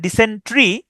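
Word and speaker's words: dysentery: ডিসেন্ট্রি, ডিসেন্ট্রি হচ্ছে রক্ত আমাশয়, এখানে উচ্চারণটা হচ্ছে ডিসেন্ট্রি, কিন্তু বানানটা কিন্তু ওইরকম না।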